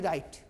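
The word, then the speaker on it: write: जैसे WRIT राइट, इस W silent होगा, जब जब आ के पहले W आए साइलेंट करेंगे हम लोग, क्यों के बाद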